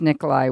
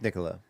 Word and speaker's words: Nicola: And so besides Nikolai Weston, is that how I pronounce her name? I think it's Nicola. Nicola? Okay, Nicola Weston at Trails End.